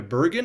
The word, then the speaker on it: Burgin: And I'm privileged to have today a conversation with two guests, Barrett and Jessica Bergen. Am I pronouncing that correctly?